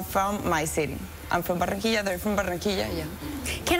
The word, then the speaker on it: Barranquilla: Barranquilla. Barranquilla. Well, hold on, you can roll it. Barranquilla. Barranquilla, Colombia. Barranquilla, you nailed it.